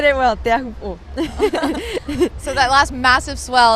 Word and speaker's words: Teahupo'o: What's the right pronunciation? You said it well, Teahupo'o.